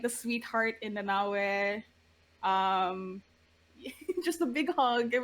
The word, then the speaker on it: Nanaue: Nanaue. Nanaue. Sorry, I didn't have subtitles, so I was basing it off of Same. my horrible hearing. Same. But Nanaue, she brought out like the sweetheart in Nanaue.